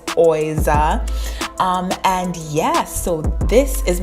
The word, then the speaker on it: Oiza: Some people have been asking me how you pronounce that. It is Oiza.